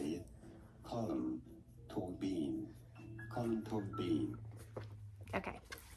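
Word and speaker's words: Colm Tóibín: Colum to bean. Colum to bean. Okay. Colum Bean.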